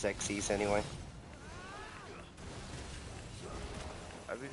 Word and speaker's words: Xyz: team Synchro let's go I'm not calling it xyz's that sounds really dumb the actual pronunciation is xes anyway I mean it's